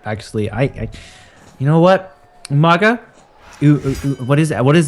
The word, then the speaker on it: Umaga: Umaga? What is that? What is the word? How do you pronounce it? The incorrect pronunciation? Umanga? Umanga? As William Regal says it, Umanga.